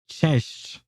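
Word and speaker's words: cześć: But let's see how it's pronounced. Chesh.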